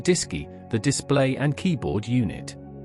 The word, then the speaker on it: DSKY: The AGC communicated with the crew through the DSKY, pronounced Disy, the display and keyboard unit.